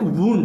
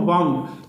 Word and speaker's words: wound: लेकिन अगर कोई चीज़ घायल होना या घाव लग जाना तो उसे कहते हैं वुंड, WOUND, वुंड। घायल होने को वुंड कहते हैं और चाबी रखने को वाउंड।